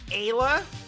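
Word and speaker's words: Ayla: absolutely used to uh so I've landed on Aya as the pronunciation the caveman woman cave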